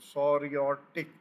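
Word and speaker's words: psoriatic: और फिर जो अगली किस्म है वो है इसका सोरियाटिक, अगर इसका प्रोनाउंसिएशन में मुझे लग रहा है कि पी साइलेंट है, जॉइंट इन्फ्लेशन दैट डिवेल्प्स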